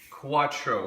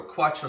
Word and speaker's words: QU4TRO: out the active blink Quatro Quatro spelled with a four we've been waiting for